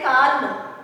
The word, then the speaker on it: calm: You won't say calm. You can't spell it as calm. It is calm. L is silent. In this word, L is silent.